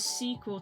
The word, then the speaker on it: SQL: talking about coding SQL can be pronounced as squl to be easy to say but it's basically only